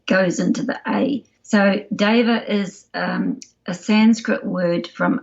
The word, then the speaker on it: deva: why it's normally pronounced deva it's like the maori e or the italian e it's not it's not an e it's an s sound so it's kind of goes into the a so deva is a sanskrit word